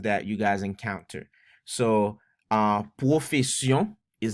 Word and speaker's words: Pwofesyon: So, Pwofesyon is how you say it in Creole. Pwofesyon.